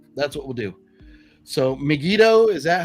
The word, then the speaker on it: Megiddo: So Megiddo, is that how you say it, MC? Like Yeah. Yep, Megiddo.